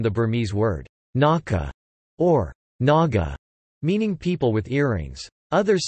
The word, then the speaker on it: Naga: Burmese word naka or Naga meaning people with earrings others suggest it means pierced noses both maka and Naga are pronounced the same way in Burmese the ancient name of